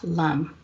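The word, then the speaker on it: LAM: So the mantra for the root chakra is L-A-M, and it's pronounced LUM.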